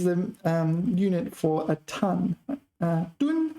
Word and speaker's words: 吨: 吨, first tone. Taiwan pronounced 吨. All right, I've always said fourth tone, so 吨.